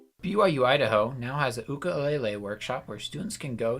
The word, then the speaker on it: ukulele: activities and requested it most people know this thing as a ukulele but in Hawaii it's pronounced ukulele and the only thing